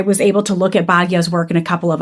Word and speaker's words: Bhagya: And so I was talking with her and my publisher and I'm like, it's Bhagya Madana Singh.